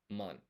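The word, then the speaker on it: 万: kanji, this is ichi and then this is man. And basically I'm writing the appropriate hiragana above the kanji. I think it's called furigana. Just so you know, this is pronounced ichi and this is pronounced man.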